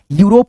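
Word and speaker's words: Europe: आर ओ पी ई यूरोप पढ़ेंगे। यूरोप यू देखो यूरोप आ गया ना? यू रोप यूरोप।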